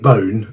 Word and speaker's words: Boon: this particular beer Frank bone um it's it looks like it should be Boon in English but that's how it's pronounced in uh in Flemish and Creek is the